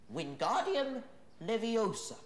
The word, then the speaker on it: Wingardium Leviosa: Wingardium leviosa.